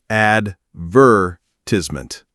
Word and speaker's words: advertisement: Americans stress the second syllable. Advertisement. Brits stress the third.